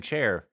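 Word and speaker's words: Cair: who that is and why is their last name chair because it's spelled all the time oh it's spelled c-a-i-r but it's uh it's Gaelic ah I see well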